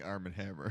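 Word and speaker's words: Arm & Hammer: thank thank you uh he sits there and goes Armen Hammer everyone is silent including Arm and Hammer including ining Arm and Hammer Arm and Hammer because it's not spelled that way Arm and Hammer where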